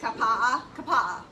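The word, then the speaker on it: Kapaʻa: That's how you say it, Kapa'a.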